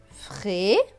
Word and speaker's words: Frédéric: IC se prononce IC, donc R et IC, RIC. Donc ce mot va se lire Frédéric.